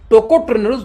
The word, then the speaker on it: टोकोट्रेनोल्स: लेकिन palm oil के अंदर में दो एंटीऑक्सीडेंट पाई जाती है, टोकोफेरोल्स और टेकोट्रेनोल्स। प्रोनाउंसिएशन फिर से आप इसका नाम पढ़ना सीखना पड़ेगा, सीख लेना, है ना।